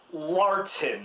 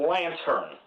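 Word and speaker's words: Larten: movie's vampire lantern crepsley i'm pretty sure it's pronounced larton not lantern played by john c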